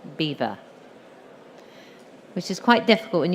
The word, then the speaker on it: Belvoir: hill and they said Belvoir beautiful view so as we know we're very bad at pronouncing French so over the generations it's been bastardized to Beaver which is quite difficult